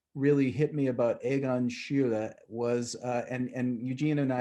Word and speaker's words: Schiele: I used to just say Schiele. Schiele. Yeah. Schiele, the Americanized version of Schule.